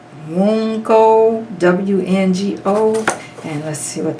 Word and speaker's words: Wunjo: And it says Wungo, W-N-G-O, and let's see what that's saying to us. Okay, Wungo, or Wunjo, I think is what the pronunciation is of that.